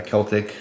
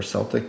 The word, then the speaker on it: Celtic: And I have the Celtic Cross, or Celtic Cross, depending on who you are and how you say it.